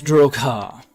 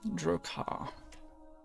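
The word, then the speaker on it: Drok'har: My name is Drokar. And... Was it Drokar? yes, I'll spell it for you. Yeah. D-R-O-K. Little apostrophe. H-A-R. Drokar.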